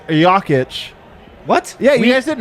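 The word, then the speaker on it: Jokić: he talking about us because i know it's actually nicola nico and it's jakitch what yeah you guys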